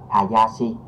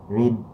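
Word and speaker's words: 林: Rồi và âm nhật của chữ lâm này thì mình sẽ đọc là Hayashi, có nghĩa là rừng ha các bạn.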